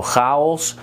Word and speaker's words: chaos: Then there is the ch. And the ch sound is very peculiar. It's very typical for the Dutch language. And I don't know if you like that guttural sound, but that's what they use a lot. And it could either be a G or a CH. Both are pronounced the exact same way.